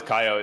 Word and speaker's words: Kaio: pronunciation? Kaio.